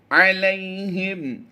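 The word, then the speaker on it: عَلَيْهِمْ: تضلیل وأرسل، تضلیل وأرسل علیہم، لام یا زبر لئی، یا لین ہے لمبا نہیں کر سکتے۔ علیہم طیرا ابابیل، یاد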